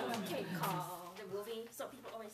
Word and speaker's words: Kong: my name is Kong, like King Kong. Do you know what the name of King Kong, the movie?